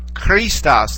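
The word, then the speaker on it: Χριστός: of said a ch, Christos, like that. It has sort of a rough, guttural beginning to it, much in the same way the word for the famous composer Bach is pronounced in German.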